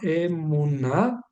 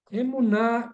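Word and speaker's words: אמונה: conocemos como emuna vamos a escribir Cómo se pronuncia esto emuna emuna que es fe en la en el español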